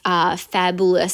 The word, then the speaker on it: Faboolous: You can make a ton of different sayings with this Faboolous Sentiments, and it's I will put the title of it down there, but it's Faboo, like boo for Halloween, Euless Sentiments.